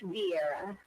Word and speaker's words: Vieira: Am I pronouncing it correctly? You're very close. You are. It's Vieira.